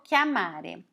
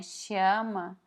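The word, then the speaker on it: chiama: a gente já percebeu nem chama chama na rima com o português mas como a gente já que já estudou a regra da pronúncia sabe que é que ama então rima nem um pouco que ama ana chama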